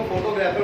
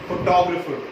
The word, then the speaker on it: photographer: फोटोग्राफर, ये जो word होता है ये इंग्लिश वर्ड नहीं है, ओ सॉरी हिंदी वर्ड नहीं है जिसको हम एज इट इज बोल देंगे. ये वर्ड की प्रोनाउंसिएशन थोड़ी सी अलग है. इट्स फोटोग्राफर. इट इज फोटोग्राफर।